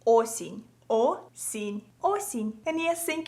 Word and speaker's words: осінь: So if you wanna say autumn in Ukrainian, you would say it like осінь.